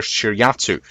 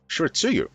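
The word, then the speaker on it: Shiratsuyu: And the other one I want to point out is this guy here, Fat Monk, the Tier 7 Japanese destroyer Shiryatsu. Oh, actually, no, Shiritsuyu.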